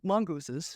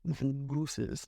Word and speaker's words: mongooses: Oh, mongooses. Mongoose. And that's the proper way to say it. Mongooses, not mongooses.